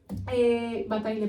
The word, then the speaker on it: Bataille: Bataille, perdón, esto no se pronuncia así, es francés, así que perdón.